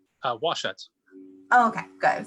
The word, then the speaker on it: Washut: how do i say your last name uh washuts oh okay good i'm saying it right so